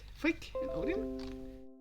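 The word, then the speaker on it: Frigg: person shut up i know you have different pronunciations you can use those in your stuff there is frick and tor not floor tall ignore the age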